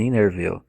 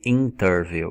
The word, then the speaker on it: interview: Eu não falei interview, eu falei interview. Por quê? Porque quando o T está antes do N, você não precisa pronunciar o T. Na verdade, você vai ouvir muito os nativos falando o N e o T, simplesmente eles derrubam, eles não falam.